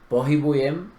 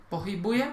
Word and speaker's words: pohybujem: Pero la diferencia está en la H y la G, que es muy sutil, pero en el eslovaco la diferencia se escucha y cuando alguien no hace la diferencia ya no te entiende.